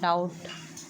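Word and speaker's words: doubt: जैसे कि साइकोलॉजी में पी साइकोलॉजी में पी और डाउट डाउट डाउट में बी साइलेंट है।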